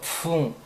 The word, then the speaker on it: 縫: 만들려고 로가 다입니다 다음에는 중국어 봉자를 써서 풍 풍 풍풍 영어 발음 F 발음하는 것처럼 풍 풍 풍이 됩니다 그다음에이 또 부부에서 보수하다